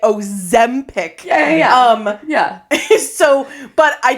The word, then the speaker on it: Ozempic: trained myself now to say Ozempic.